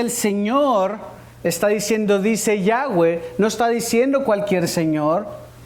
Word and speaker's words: Yahweh: que la pronunciación sea Yahweh. ¿Por qué la diferencia de Yahweh yahé? Porque los judíos sefardíes que se radicaron en España pronunciaban la W como V. Así que algunos dicen Yahé o Yahweeh.